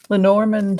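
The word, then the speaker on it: Lenormand: but let's use the lenorman uh cards uh I do love my Len Normans I've learned how to say it lenorman let's see uh if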